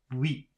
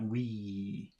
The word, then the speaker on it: oui: So again, it's very short. Oui, not we.